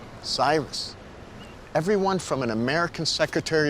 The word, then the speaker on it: Cyrus: The Greeks called him Kyros, which the Romans then pronounced Syros, before finally ending up Cyrus in English.